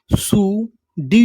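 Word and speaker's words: pseudo: एस ई यू सु डी यू जो सूडो एन वाई एम इसे हम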